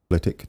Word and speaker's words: Flitwick: It is pronounced Flitwick. It's a silent W. And for that, we are going to plough through Flitwick today to place a station.